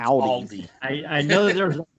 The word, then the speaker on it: Aldi: And when he says Audi, he means Aldi.